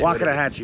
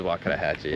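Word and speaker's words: Wakodahatchee: And I'm not going to say Waka Hatchi wetlands. It is Wakadahhatchee.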